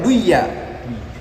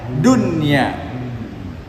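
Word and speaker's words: دنيا: Kadunya seperti kata dunya, enggak boleh baca duya. Harus bacanya dunya.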